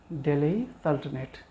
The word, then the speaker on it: Delhi Sultanate: नया चैप्टर दिल्ली सल्तनत या फिर इसको प्रोनाउंस करते हैं दिल्ली सल्तनेट बोलूंगा बार-बार ठीक है